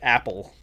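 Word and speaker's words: Apol: A P O L but pronounced like Apple.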